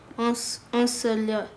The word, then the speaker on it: ensoleillé: Les journées sont chaudes et ensoleillées.